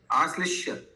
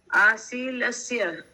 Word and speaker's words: आश्लिष्य: आशील से क्या बोला? आश्लिष्य, आशीलस्य, ऐसा नहीं बोला।